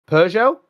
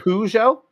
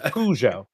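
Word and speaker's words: Peugeot: may have occurred yes uh I think you pronounced the car wrong though you said PUO you mean pujo it's pujo AB yes that must be the American pronunciation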